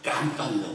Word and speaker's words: 감방: 독서자도 그냥 감방이라고 하니까 깜빵이라고 하는 감방입니다. 감방. 감방의 방을 빵으로 발음할 수는 있죠. 그건 표준말입니다.